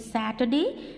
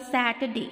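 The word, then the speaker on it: Saturday: वेडनेसडे नहीं बोलेंगे, that is called वेंसडे, that is called थर्सडे, that is called Friday, that is called सैटरडे, नॉट सटरडे.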